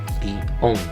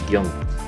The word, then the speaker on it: guion: Por un lado, en países como Argentina, Ecuador, Colombia, Venezuela y España, se tendía mayoritariamente a articular este término como un bisílabo formado por un hiato, guión, mientras que en la zona geográfica de Centroamérica y México se tendía a pronunciarlo como un monosílabo formado por un diptongo, guión.